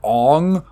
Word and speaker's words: Aang: Avatar like they go halfway they call him Ong all the time even though it's Aang it